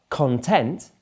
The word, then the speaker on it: content: the website content content but content where the stress is on the the second syllable means you're happy all